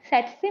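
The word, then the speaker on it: tsetse: মাছির দ্বারা, স্যাটসি মাছি বলা হয়, ঠিক আছে, এই টিটা সাইলেন্ট থাকে, স্যাটসি মাছি বলা হয়।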